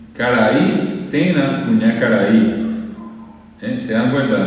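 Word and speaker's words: térã: La O en guaraní se dice tena, tena. Y se escribe T-E con acento gráfico, acento común, acento parecido al castellano, R y A nasal. Tena. Se tena de.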